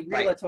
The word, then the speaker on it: Realtor: No, but actually, that's, you know, one of the most mispronounced words. That's so funny. Realtor. Right. There is no A.